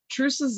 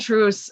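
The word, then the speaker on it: Truus: freddie over stegen and truce's name is spelled t-r-u-u-s these are dutch names so i listened and i think it's pronounced truce so that's kind of what i'm going to go with so when the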